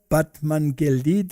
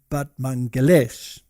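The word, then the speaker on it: Batmanghelidj: scientist and his and his name was this one over here batman but apparently you pronounce it but mangalesh now he was an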